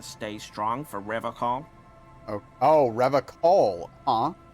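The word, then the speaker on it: Revachol: Oh, Revacol, huh? He pronounces Revacol with a hard K, unlike other people.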